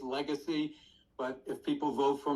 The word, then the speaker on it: Legasse: you did in fact my name is mispronounced all the time it's Legacy but if people vote